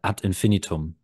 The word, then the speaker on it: Ad Infinitum: I say it like in Germany you would say wait I need to go get into the German mode uh at infinum okay but it's not it's